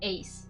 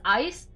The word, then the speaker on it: Ais: I think it's ace. It's It's pronounced as Ace. I like to pronounce ice, but apparently it's not ice.